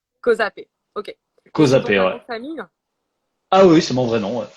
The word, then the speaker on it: Causapé: fait, je me rends pas compte comment on prononce ton nom de famille. Alors, c'est Kozapé. Kozapé.